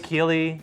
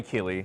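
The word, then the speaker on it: Keighley: I keep forgetting because I want to say Neely but it's not it's Kylie it's Kylie uh I don't know I don't know if that's how you pronounce it Kylie Keely I think it might be Keely okay Jeff Keeley said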